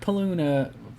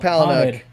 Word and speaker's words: Palahniuk: right casey for the win in the chuck paluna i can't say his name chuck palahniuk haunted uh saint got free lost what part